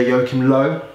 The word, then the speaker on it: Joachim Löw: Their manager, Joachim Löw. Yeah, good. Good pronunciation.